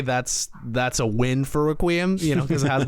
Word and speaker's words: Requiem: I always want to say Reququiam, but it kind of sounds like I'm a snob at a at a library with with with a glass of wine. Reququum. I mean, I almost want you to say it like that, but I will tell you I say Reququiam, but if you want to go Reququum, I I would absolutely be open to that.